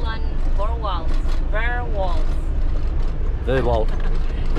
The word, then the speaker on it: Vorwald: Vorwald. Alan Vorwald. Vorwald. Vorwald. It's yeah. German. German? No, the name. Yeah, German pronounced.